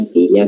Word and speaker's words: filha: Filha, filha, filha, filha, filha, filha, filho. Onde sai filha? É treino, tá? Então você começa falando assim: filha, filha, filha, lá sai o lá. Tá bom? Esse é o som do LH.